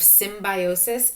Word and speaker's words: symbiosis: now you say it let's clap it symbiosis four syllables let's whisper it yes